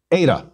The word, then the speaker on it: eta: repeat zeta z eta eta is equivalent to the long a in gate because this letter looks